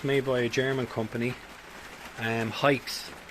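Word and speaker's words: Haix: Hikes, I think this is the pronunciation.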